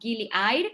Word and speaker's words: Gili Air: We went to one called Gili Air, and it's actually pronounced like air, which means water in Indonesian.